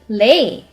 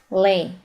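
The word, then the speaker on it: 累: So it's just simply lay. So you need to pronounce this as lay.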